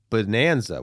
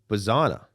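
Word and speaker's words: Bazzana: Travis Bonanza. Why do I not know how to say his name? Bazana, not to be confused with Travis Pastana, who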